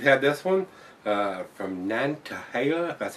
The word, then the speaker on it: Nantahala: get these boys there at uh nantahala that's how it's pronounced to uh date herself